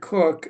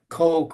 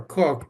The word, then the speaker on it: Cook: you mentioned Father Victor cook uh people sometimes have a challenge to say how to pronounce his name they say Coke or cook but you always go by cook but how is it